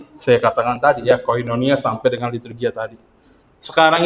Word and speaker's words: koinonia: ibu ya koinonia sendiri Ini adalah kata Yunani ya bacanya adalah koinonia yang ketika kita Terjemahkan